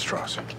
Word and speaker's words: Strauss: It's pronounced Strauss.